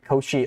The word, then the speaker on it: Cauchy: Like, oh, I thought like, I was imagining Cauchy, I thought like K-O-S-H-I is what people were saying. Okay. I think I never really heard people pronounce it Cauchy.